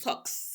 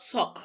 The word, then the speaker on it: SOX: It is SOX, Sarbanes-Oxley, not SOC. There's SOC. We are not talking about SOC. We are talking about SOX.